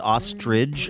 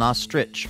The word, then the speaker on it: ostrich: I've always said ostrich, like it ends in a G, and it doesn't. It's an ostrich, right?